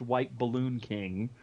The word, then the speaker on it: WHTBLLNKING: My Twitter, it's supposed to be pronounced White Balloon King, but because Twitter gives like a character limit, thanks a lot, it is spelled WHTBLLNKING.